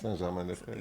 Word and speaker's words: Saint-Germain-des-Prés: How do you pronounce it? Saint-Germain-des-Prés.